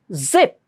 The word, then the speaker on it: zip: Zip. Zip. Not jip. Not jip code.